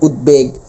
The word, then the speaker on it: উদ্বেগ: উপসর্গ যোগে গঠিত তাহলে উদ উপসর্গ যোগে গঠিত হওয়ার কারণে ব এর উচ্চারণ অপরিবর্তিত থাকবে অর্থাৎ ব এর উচ্চারণ হবে যেমন উদ্বেগ উদবাস্তু বোধন অর্থাৎ উচ্চারণগুলো করে ফেলতে পারতেছি আমরা।